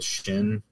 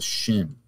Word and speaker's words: Shin: the way it's written, if it's accented on the right, it's a Shin. But then if the accent's on the left, it's pronounced Sin without the H.